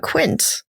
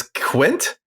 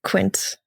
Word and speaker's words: Quint: is Jaws and of course I'm talking about quince who is on the USS holy I always thought I would pronounce is Quint it's Quint no man I've been saying the name like